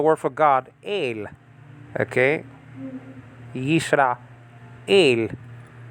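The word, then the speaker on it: יִשְׂרָאֵל: Yisra, el. That is to be pronounced together.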